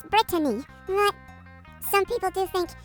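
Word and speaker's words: Brittany: adapted it you see my name is actually pronounced Britany but a lot of people call me Britney well because it's sort of similar and my name has two T's in it fascinating Alvin I listen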